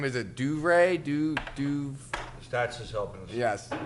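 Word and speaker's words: DeVries: Is it Duvray? Stats is helping us. Yes. Stats. DeVry.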